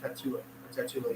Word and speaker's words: Tatula: Is that how you say it? Tatula, yeah.